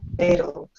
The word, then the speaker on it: fatal: You say fatal like a D. T is D. No? Oh, fatal. Well, it's automatic for many speakers, so I try hard to pronounce those T's, but many people you will hear fatal, which really is D.